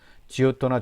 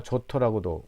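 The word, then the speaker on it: Giotto: 지오토나 조토라고도 발음을 합니다.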